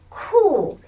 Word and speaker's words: 酷: 哭，苦，苦，酷。